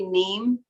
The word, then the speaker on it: neem: It's spelled N like Nancy, EEM like Mary, neem.